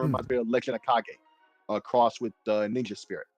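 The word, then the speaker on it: Kage: since I was like seven or eight it's KAG yeah but either way um so this game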